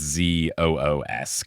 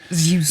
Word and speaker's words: Zeus: more of like Zeus like it's Z oos I honestly Zeus sounds a bit ridic it's like Dr Seuss but with a z like that's kind of